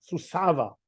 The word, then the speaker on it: Suceavă: What is the right pronunciation? Suceavă.